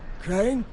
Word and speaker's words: Crane: Crane? Crane rhymes with train, and brain, and sane, and grain, and rain, and plane, and the other kind of plane, and...